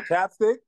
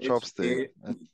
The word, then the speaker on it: ChapStick: no problem Oh my Chapstick yeah next time pronouncing correctly sorry sorry sorry sorry American child your your Chapstick it's chapstick chopck it's not Chopstick Chopstick I was thinking